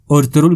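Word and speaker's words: Ertuğrul: نام مشہور ہو گیا۔ ترک لب و لہجے میں البتہ کردار اس نام کو ارطغرل کہتے ہیں، بلکہ بعض اوقات تو اس انداز سے کہ ارطرو سنائی دیتا ہے، آخر میں ہلکا سا لام کا اشارہ۔ پچھلی والی اردو ڈبنگ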